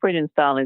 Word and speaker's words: Friedenthal: Is that how you pronounce it, Antoinette? Friedenthal? Yeah, Friedenthal is correct.